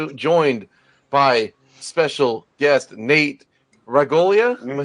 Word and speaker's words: Ragolia: It is week 2 of October Noir, and we are joined by special guest Nate Ragolia.